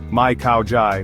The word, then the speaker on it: Mai Khao Jai: Let's break it down. Mai means no, and is pronounced just like Mai. Khao Jai means understand and sounds like Khao Jai with the emphasis on the second syllable.